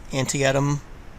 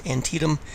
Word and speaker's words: Antietam: say it incorrectly please it's not Antietam it's antium the bloodiest single day